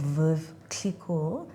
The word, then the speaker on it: Veuve Clicquot: Uh, this is the president and CEO of Veuve Clicquot. No, I'm not being pretentious, that's how it's pronounced.